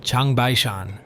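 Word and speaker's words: 长白山: In Chinese, Jangbaek-san is pronounced Changbai-shan.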